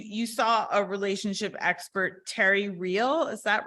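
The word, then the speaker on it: Terry Real: question is you you saw a relationship expert Terry reel is that right and am I pronouncing that correctly okay yes um and you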